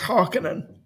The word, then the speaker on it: Harkonnen: So it's Kynes and it's it's Harkonnen. Harkonnen, Oh no, I reject Harkonnen.